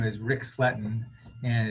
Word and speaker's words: Sletten: instance uh you know my name is rick sletten and it's spelled r-i-c-s-l-e-t-t-e-n and that defines me and if